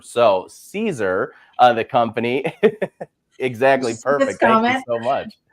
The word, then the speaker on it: Siser: transfer vinyl manufacturer I'm going to start with Caesar first because I think that that's the important one to make sure that everybody knows and like I've said it a couple of times it's pronounced ceser so Caesar of the company exactly perfect so much so